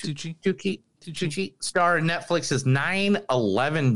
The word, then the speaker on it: Tucci: Is that how you spell it? It's Tucci.